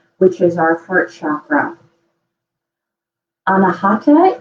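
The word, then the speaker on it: अनाहत: Anahata is how you pronounce it in Sanskrit for your chakra, and it is the center chakra between the seven chakras altogether.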